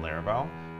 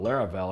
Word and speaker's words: Laravel: And I was like, what rhymes with that? And thought Laravel, and I was like, that sounds like something I would use, you know what I mean?